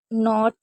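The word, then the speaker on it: knot: कुछ एक दो रह गए, जैसे नॉक, नॉट, नो, नॉल। तो यहाँ पर भी के को नहीं पढ़ा है, ठीक है।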